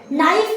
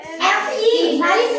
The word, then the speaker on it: knife: और नाइफ में की स्पेलिंग देखो, KNIFE। नाइफ नहीं, नाइफ चाकू। के साइलेंट हो गया।